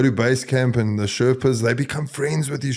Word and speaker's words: Sherpa: I've heard of people that go to base camp and the Sherpas, they become friends with these Sherpas.